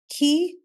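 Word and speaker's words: chi: fi both are acceptable ke or Kai both are acceptable and C or S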